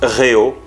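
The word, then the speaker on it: rehaut: you call in english the rehard which is a truly a french word that you pronounce reo okay on the rayo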